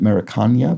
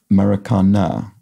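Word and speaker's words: Maracanã: pronounced kind of like maracana in portuguese at least so with an emphasis on that last syllable so i'm sorry about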